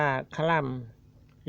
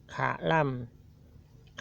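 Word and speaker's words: ขะลำ: ตรง นี้ ภาษาล ่า อ่าน ว่า คล่ำ หรือ ขะ ล่ำ คล่ำ หรือ ขะ ล่ำ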